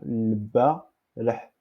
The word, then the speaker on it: البارح: Déjà parlé que 7, c'est comme ha. Parce qu'on ne peut pas mettre ici H. Si on mettait H, on le prononce البارح. C'est une autre chose. Donc, on mettait 7. البارح. 7 comme la lettre ha. Comme la lettre. Donc, c'est cette lettre. Donc, 7, c'est ha.